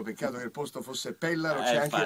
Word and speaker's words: Pellaro: bravissimo su tutto peccato che il posto fosse Pellaro c'è anche l'accento sulla e lui si è pure fermato